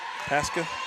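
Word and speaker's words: Pascha: you remember if youall said it right yesterday Pasa Pasha with strand p a s c h a obliv rock Pasa yes okay 107 good job from the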